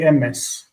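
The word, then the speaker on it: אמת: So we say emet, and they say emes.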